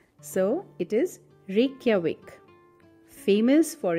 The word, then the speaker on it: Reykjavik: God people have so much problem remembering its pronunciation so it is Reykjavik famous for its rugged Landscapes and scenery Northern